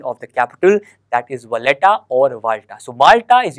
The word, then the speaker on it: Valletta: So exactly इसकी जो इसका प्रोनाउंसिएशन है वो है आपका वाल्टा, बट यहाँ लिखा हुआ है वलेटा।